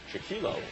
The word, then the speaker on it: Chickillo: Anthony Chickillo, as she pronounced it. We call it Chickillo.